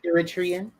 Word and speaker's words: Eritrean: I can't pronounce the country's name. Eritrean.